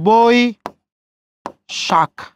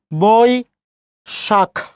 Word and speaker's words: বৈশাখ: স্মরণীয় এই বৈশাখটা খুবই গুরুত্বপূর্ণ, খেয়াল করি ওই আছে তাহলে বই শাখ, বই শাখ।